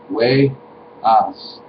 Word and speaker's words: Wejas: Literally pronounced way-as, not ass or as, although some can say it that way and it's not what it's actually pronounced as.